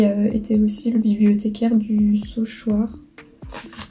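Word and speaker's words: Saulchoir: Frère Michel Albaric, qui était aussi le bibliothécaire du Sauchoir, ça se prononce comme ça, et qui avait fait du coup un livre sur l'histoire des micelles, et c'était très intéressant.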